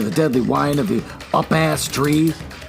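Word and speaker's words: upas: And he stepped into the deadly wine of the up-ass tree. Up-ass. That's how I'm going to pronounce it.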